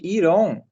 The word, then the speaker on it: iron: Iron, gente, iron, né? Você fala iron, não tem O nessa pronúncia. Iron Man não existe.